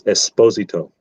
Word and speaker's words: Esposito: It's Esposito. Esposito. That's the Italian pronunciation, not Esposito.